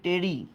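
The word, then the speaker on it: ptery: নেথ মানে চোয়াল আচ্ছা এবার পিটা উজ্য থাকবে এটাকে আমরা বলি টেরি টেরি মানে ডানা বা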